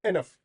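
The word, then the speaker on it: enough: एनफ की spelling देखते हैं। इ एन ओ यू जी एच। छह लेटर्स बट साउंड है एनफ।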